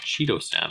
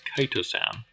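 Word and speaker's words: chitosan: commented on my pronunciation it's not Cheetos San apparently it's kitosan but you can see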